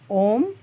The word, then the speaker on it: ओम: अ बोलते समय हमारा मुंह खुलता है। उ बोलते समय हमारा मुंह खुला रहता है और म बोलते समय हमारा मुख बंद हो जाता है। अतः ओम का सही उच्चारण कैसे